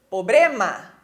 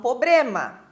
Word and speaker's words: problema: Então, por exemplo, problema. Muitas pessoas falam problema e o correto é problema.